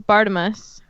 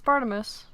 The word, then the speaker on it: Barnabas: Taylor is it yeah I always thought it was Bardem us yeah yes it's Barnabas what does what does your audiobook 4n say party is really dirty Crouch jr.